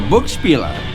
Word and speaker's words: Buch Spieler: So, I guess the first question is how do you pronounce the name of the store? Okay, yeah, common question, all right. So, "Book Speeler" One other way I do it instead of